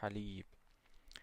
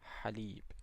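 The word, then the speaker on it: حليب: ha as in haleeb So, to pronounce this one is as if you are saying ah but you just give it the vibration in the back of the throat.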